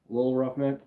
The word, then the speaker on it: Lil Roughneck: You have to say it like that, Lil Roughneck.